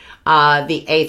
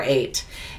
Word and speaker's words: Ate: So when you see that, kind of see that imaginary, the silent H before 8. 8 is the daughter of